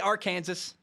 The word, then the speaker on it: Arkansas: It's spelled Arkansas, but I have to spell S-A-W at the end because I forget how to say it.